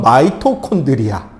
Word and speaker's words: 마이토콘드리아: 너희들이 배울 때까지만 해도 미토콘드리아였던 마이토콘드리아. 왜 글자 바뀌었냐 우기지 마세요. 교육부에서 그렇게 가르치랍니다. 어이쿠 당당하게 들어온다. 마이토콘드리아, 미토콘드리아입니다. 이게 외래어 단어들의 표기법이 미국식 발음으로 조금씩 바뀌어가는 중인 거예요.